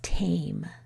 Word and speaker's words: tame: This word is tame. The E forces the A to say its name.